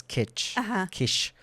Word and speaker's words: Kiss: So, his name is spelled Kiss, but I believe the pronunciation is kish because that's also